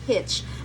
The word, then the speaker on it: hitch: It's not hits, it's hitch.